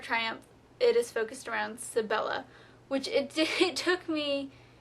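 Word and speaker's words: Sybella: I was pronouncing it wrong because I kept pronouncing it Sybil and it's actually Sibella or at least that's how others have pronounced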